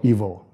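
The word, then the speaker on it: Evol: movie, which is called Evil, E-V-O-L. That's love spelled backwards. Oh. Yeah, so it's pronounced evil, like E-V-I-L. Yes. But it's love spelled backwards.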